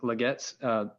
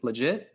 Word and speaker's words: LeGette: uh at burton burton legette help me pronounce his name is it legit is it leget legit okay it is legit sorry about your french